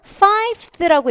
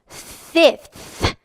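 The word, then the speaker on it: fifth: 어떤 실수를 하시냐면 5th라고 읽으시는데요. No, fth 하고 th 발음의 혀를 내밀어서 앞에서 보이시죠? 하고 읽어 주시기 바랍니다.뿐만 아니라 여기 보이는 20번째와 30번째라는 서수가 있는데요.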